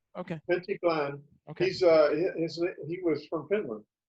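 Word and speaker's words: Pentti Glan: It's Pentiglan. Oh, okay. Pentti Glenn.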